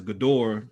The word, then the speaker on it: Ghidorah: up to Monster Zero, which is I believe you pronounce it as Ghidorah, the three-headed regenerating.